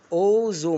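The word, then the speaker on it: although: الكلمة اللي بعديها خلي بالك ان التي اتش هنا تنطق زي حرف الزال كده في العربي، والجي اتش طبعا خدناهم قبل كده، وهنفكركم ان شاء الله في فيديو تاني ان هم يكتبوا ولا ايه ينطقوا. يبقى انطق الايه والال هنا او، تبقى الكلمة ايه؟ اوزو معناها بالرغم من، دي بتربط جملتين عكس بعض.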